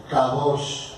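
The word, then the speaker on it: קדוש: Se dice kadosh.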